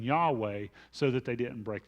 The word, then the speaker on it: Yahweh: translated the gr the the Hebrew word that is spelled in English y-h-w-h which we pronounce as Yahweh or transliterate as Yahweh